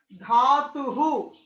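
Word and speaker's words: धातुः: It is Dhatu. There is a visarga Mahodaya, so you have to spell it as dhatuhu.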